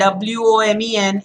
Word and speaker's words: women: WOMAN is woman and WOMEN is women. Now look at the difference, guys. Woman and women. Woman and women. Imagine the spelling is WIMIN. Okay, this is the phonetic chart, but anyway, just look, imagine this is I. So women, woman. There was one woman, there were many women. So please make the right sound.